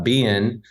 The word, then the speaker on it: Bennett: talk to my mom my name you know Ben is uh be in it's a two-syllable bin um but um you know